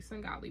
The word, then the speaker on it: Svengali: And I pronounced it correctly. Svengali.